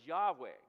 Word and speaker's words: Yahweh: Jehovah, and perhaps the more correct pronunciation of that word is Yahweh.